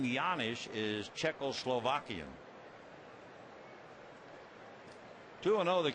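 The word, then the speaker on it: Janish: two down and Paul yanish the name begins with a J but you pronounce it like a y and he takes the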